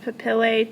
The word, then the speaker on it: papillae: they are called dermal papillae. I've heard it pronounced papillae too. It's kind of like tomato.